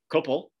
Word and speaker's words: Kopel: Kopel, right?